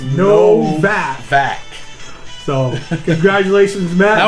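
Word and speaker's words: Nowack: He said it's pronounced Novak.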